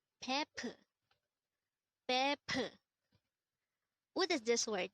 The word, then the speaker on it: 베프: BEPEU. BEPEU. This is pronounced as a two-syllable word. The first syllable is be, the second syllable is pu. Pronounce it with me. BEPEU. BEPEU.